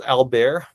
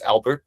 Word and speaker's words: Albert: But if you guys go to the um the main village there, it's called Albear, but you know, we would pronounce it as Albert just like the name.